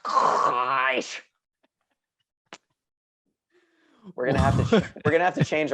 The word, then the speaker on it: Kress: It's pronounced KRESS.